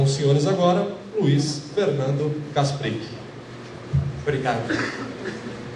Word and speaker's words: Kasprik: Com os senhores agora, Luiz Fernando Kasprick. Obrigado.